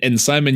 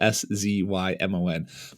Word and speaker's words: Szymon: And Szymon, you have, your name is pronounced Szymon, just like kind of the normal American name.